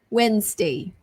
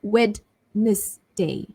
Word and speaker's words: Wednesday: If you're watching this live, today it's a Wednesday. So it's not Wednesday, it's Wednesday.